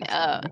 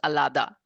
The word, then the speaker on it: Ahlada: I mean, Ahlada. I've heard like one of the most popular variations is Alada. So I've heard all variations and I've heard it pronounced Ehlad.